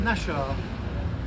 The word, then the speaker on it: Naxxar: hello we're in Malta we're in nashar nashar is spelled n a XX a r this is